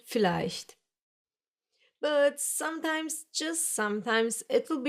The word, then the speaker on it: vielleicht: Yes, the Germans will most of the time pronounce this letter like you would pronounce the English F. Like here in this number, 4. Some other examples are Vater, verkaufen, viel, vielleicht.